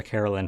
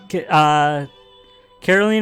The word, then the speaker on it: Caroline: God, I called her Carolyn for like half the game until they said it out loud at some point. I was like, oh.